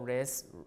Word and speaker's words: wrist: still there okay finally the W before R is lost as in wrong wrinkle wrist uh ring and rankle so in all of these words you don't pronounce the W right so all of